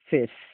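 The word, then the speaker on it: face: আমরা একটি সহজ রুল হয়তো অনেকেই জানি যে কোনো শব্দের যদি শেষে যদি ই থাকে তাহলে ই এর উচ্চারণ সাধারণত হয় না, ই এর উচ্চারণ আমরা করব না, ওটা ধরা পড়ে না।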